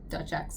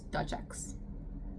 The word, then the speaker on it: Dutch X: Dutch X fashion. Like Duchess but with an X. So it's Dutch X.